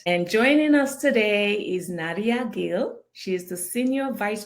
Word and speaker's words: Nadia Gil: technology driven market and joining us today is naria Gil she is the senior vice president of strategy at Hitachi digital am I pronouncing that correctly yes okay with a fascinating